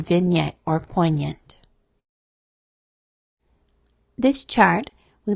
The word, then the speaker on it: vignette: It will have the normal sounds of G or N in Latin, like in signal, but sounds like NY in French, as in vignette or poignant.